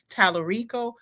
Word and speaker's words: Talarico: We got to call it out and I'm going back to Jasmine Crockett and Talarico I believe is how you pronounce it.